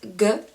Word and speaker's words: ㄱ: very first one is ㄱ This one sounds very similar to the English G But in Korean it tends to sound a bit stronger and most of beginners